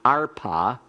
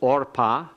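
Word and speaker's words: Orpah: tooth and that's why the name of this woman is not our paw spelled with an A but or paw spelled with an O it's a comet sawtooth so it's or paw and the name of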